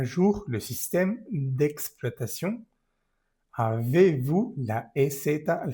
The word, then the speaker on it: système: Système, esto es amarillo. Y está E al final de la palabra système, no se pronuncia.